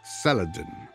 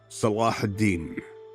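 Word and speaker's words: Salah ad-Din: In the west you call me Saladin, but my name is pronounced Salahadin which means the righteousness of the faith.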